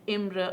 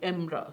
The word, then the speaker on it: Imre: I looked up two pronunciation sites, and one called it Imre and one called it Imra.